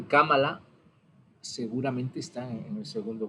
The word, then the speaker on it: Kamala: Creo que se pronuncia así, Kamala, como una esdrújula.